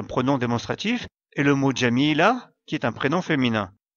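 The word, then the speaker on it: جميلة: démonstratif, et le mot jamila, qui est un prénom féminin. Ici, on s'arrête après le mot jamila, donc sa dernière lettre, le Ta marbuta, sera prononcée comme la lettre Ha.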